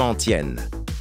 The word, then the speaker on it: antienne: Cet homme répète toujours la même antienne. Prononce antienne. Antienne. Comme le prénom Étienne.